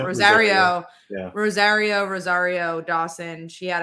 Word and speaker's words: Rosario: c2e2 uh uh dawson wrote how do you pronounce her first name is wrote rose rosario rosario rosario rosario dawson she had a panel and